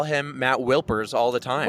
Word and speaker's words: Wilpers: Because I call him Matt Wilpers all the time. Whipler.